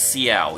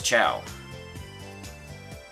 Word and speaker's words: ciao: For some reason, I always want to pronounce that as Xiao, even though I know it's Chow.